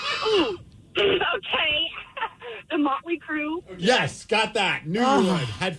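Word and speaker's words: Mötley Crüe: Mariah, the band's name rhymes with Schmotley Schmoo. Ooh. Okay. The Motley Crue.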